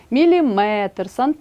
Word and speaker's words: міліметр: 70 80 друге правило одиниці виміру довжини мають наголос на останньому складі кілометр а не кілометр міліметр сантиметр третє правило віддієслівні іменники на